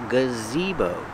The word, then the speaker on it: gazebo: the name is gazebo the first sound is the relax uh then you have the long e gazi bow use the long o like know and go gazebo the stress is on the second syllable gazebo this is a